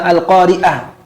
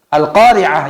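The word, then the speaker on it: القارعة: Seperti ada orang yang membaca Al-Qari'ah namanya. Dibaca dengan hamzah Al-Qari'ah. Dari salah pengucapan, pelafalan, menjadi salah pemahaman. Al-Qari'ah yang seharusnya dimaknai sebagai hari kiamat yang mengetuk dengan kuat hati setiap manusia. Akhirnya, karena tidak bisa membedakan antara hamzah dan ain, Al-Qari'ah dibaca dengan hamzah, akhirnya artinya apa?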